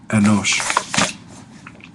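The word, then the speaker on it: אֱנוֹשׁ: Notice the composite shiva underneath the aleph there takes on the character of the sagol, that S sound. Enosh.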